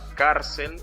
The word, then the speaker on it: cárcel: Y entonces en esta palabra cárcel, la sílaba tónica es car.